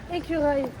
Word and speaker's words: écureuil: I don't know how to pronounce this word. How can I say it in French? French? Yeah. Écureuil.